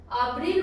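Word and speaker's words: abrir: अब्रील मतलब to open, खोलना, okay. अब्रील, Hindi में भी इसका प्रोनाउंसिएशन लिखा हुआ है अब्रील।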